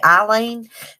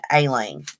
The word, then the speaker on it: Aileen: I usually say Eileen, but I think it's Aileen because I watched Very Scary People on HLN.